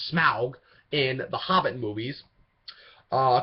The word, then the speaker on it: Smaug: voice for voice and motion capture performance for smog and sorry for programs mispronounced that wrong Smaug in The Hobbit movies uh cover batch is